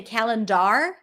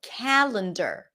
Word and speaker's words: calendar: We don't say calendar or calendar. No, calendar. Calendar.